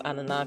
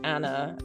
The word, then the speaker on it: Ania: like going I decided to go by Anna instead of Ana because nobody pronounced it here as Ana. people were like Anna and like that made me just feel so like westernized.